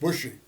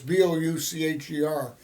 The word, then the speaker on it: Boucher: He spelled it like it's pronounced, Bushey. But it's Boucher. It's Boucher, French name.